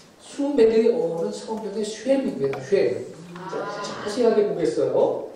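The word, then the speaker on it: שֵׁם: 원래 우리 한글 성경에 셈 이렇게 되어 있지만 히브리어 성경의 발음은 쉐입니다. 쉐.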